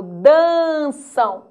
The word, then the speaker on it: dançam: mas não ditongo gráfico quando eu falo dançam olha lá o m com som do u é um ditongo fonético